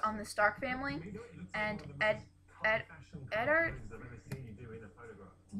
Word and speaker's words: Eddard: So north, south, east, and west, and like it's really focused on the Stark family and Eddard. I've been pronouncing it Edward, but it's not Edward. It's Eddard.